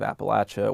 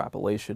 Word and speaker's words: Appalachia: to the land of Appalachia or Appalachia, depending on where you're from, how you say it, that you really love that land, you love the people who live there.